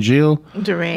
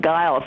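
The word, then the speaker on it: Gilles de Rais: hear about this guy whose name I couldn't pronounce. What was it again? Gilles DeRay. You did very well. Gilles DeRay. I had to look it up. I couldn't either. When I first went, I called him Giles, and when I said, "Where is Giles' home?"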